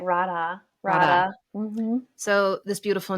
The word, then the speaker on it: Radha: Is it Radha or Radha? Yeah, you're saying it right. Radha.